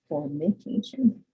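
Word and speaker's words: formication: for that is called form medication pronounce that very slowly and carefully for medication um and so this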